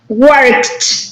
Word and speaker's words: worked: work work um worked yes with tea at the end right worked right so